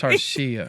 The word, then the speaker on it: Tarshia: So it's Tarshia.